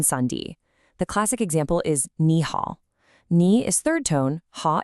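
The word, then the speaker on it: 你好: The first one changes to a rising second tone, so it becomes ni hao.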